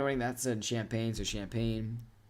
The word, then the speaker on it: Champaign: So, Champaign It is just straight up Champaign, right? Like I'm not like It's not like a special different pronunciation.